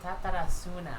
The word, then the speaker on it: Tatarasuna: Tatarasuna. Not like how you pronounced it.